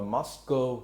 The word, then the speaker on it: Moscow: Có người đọc là Moscow, có người đọc là Moscow, nhưng mà cao nghe nó giống con bò, nghe nó hơi xúc phạm, cho nên mình đọc Moscow vậy.